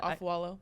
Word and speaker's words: Afualo: Afualo.